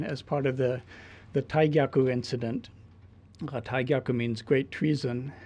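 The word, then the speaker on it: 大逆: arrested in 1910 as part of the the Taiaku incident. Taiaku means great treason. And uh those of you uh who know Japanese may think I'm mispronouncing it or that it should be Digyaku, but when you have terms that are related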